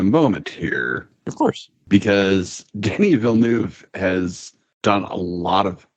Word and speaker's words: Denis Villeneuve: Well, you know, Denis Villeneuve. Denis Villeneuve.